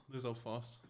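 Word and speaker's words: Lizalfos: Lizolfos.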